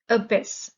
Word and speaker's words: abyss: rational sensible practical abyss the stress is on the second syllable abyss it's a noun an